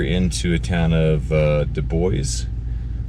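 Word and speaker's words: Dubois: a town of uh du bois uh that's how they pronounce it and kind of get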